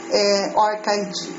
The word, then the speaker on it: ORCID: é o or orid a pronúncia em inglês já ouvi pronúncia orcid orcid orid orid Então já ouvi a pronúncia de de várias formas Originalmente a pronúncia correta orid Ok então qual é